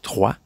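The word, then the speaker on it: Troyes: En fait, le jeu s'écrit T-R-O-Y-E-S, mais ça se prononce 3.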